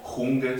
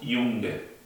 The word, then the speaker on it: Junge: La J se llama J y se pronuncia como una I. O sea, en este caso no diríamos Junge, sino decimos Junge.